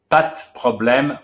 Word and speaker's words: pas problème: So pad, problem. And that's the reason why we do it and why we have so many contractions in French that you will discover little by little. We pronounce now pas problème.